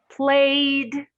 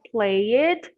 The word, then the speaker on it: played: use the pronunciation d so played played not play it but played what happened no cancel all right so don't we don't say play it but we say play i played soccer with